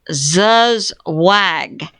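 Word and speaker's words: zugzwang: Pier Starmer, my Patriot subscriber says, is in a zuzwag. A new word for me. It's spelled G Z U U G Z W A N G.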